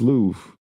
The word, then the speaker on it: Louvre: It is pronounced Louvre.